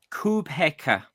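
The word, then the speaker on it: Kubheka: Yeah, Subuyso Kubeka. How do you spell that?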